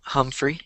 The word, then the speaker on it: Humphrey: Jeff Humphrey, or Jeff, how to pronounce his last name? Humphrey, you got it right.